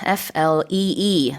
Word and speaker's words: flee: So F-L-E-E. This is different to the flee in flea market. Yes, it's spelled differently. Yeah, the spelling is different, but the pronunciation is the same.